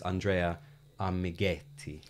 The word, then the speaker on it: Andrea Amighetti: industry you know exactly who he is it's Andrea amigetti correct did I pronounce that right yeah yeah super I didn't